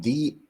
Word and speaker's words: Dy: Yeah, it's actually pronounced D.